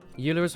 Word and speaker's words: Euler: file but it's there euler's pronounced euler oh yeah i forgot i think i'm reminded that every single time i tried to pronounce it i just go you know it says eula alright he's not around